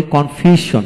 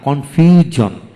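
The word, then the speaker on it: confusion: এখানে আমরা বলি কনফিউশন না, কনফিউজন।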